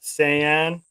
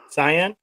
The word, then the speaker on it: Saiyan: uh handle is at Saiyan cyan underscore ax underscore 9 000 underscore toys he does a lot of great cyan I'm kidding how do I spell it uh s-a-i-y-a-n not c-y-a-n like the color I think it's something